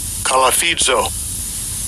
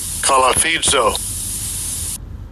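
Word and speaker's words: κολαφίζω: Buffett is G2852 and I'll give you a pronunciation of it. Strongs G2852 Kalafidzo Kalafidzo and it says uh under the biblical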